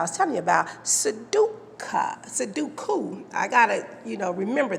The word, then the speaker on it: sudoku: should be pronounced su it's a japanese word you see but that's how it's spelled s-u-d-o-k-u sue dot coo i want to explain